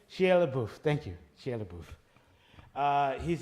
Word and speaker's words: Shia LaBeouf: I'm bad at pronunciation. Shia LaBeouf.